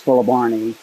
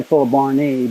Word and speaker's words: fuelleborni: At the risk of being repetitive, since somebody criticized me for that, I say fuelleborni because the Latin terminal character there is an I, which in Latin is pronounced long E.